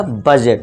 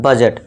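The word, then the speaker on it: budget: इसका correct pronunciation जो होगा क्या होगा, बजट। ठीक है दोस्तों, बजट।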